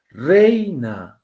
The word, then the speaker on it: reina: Reina. Ah, ya, reina. Mira, acá tiene la mayor fuerza de voz y pues por eso se están uniendo.